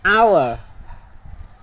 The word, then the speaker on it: hour: Hour. For example, she gave an honest answer to the teacher. An honest person tells the truth. The letter H is silent letter.